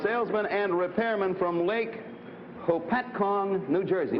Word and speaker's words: Hopatcong: Frank Smith, a salesman and repairman from Lake Hopatcong, New Jersey.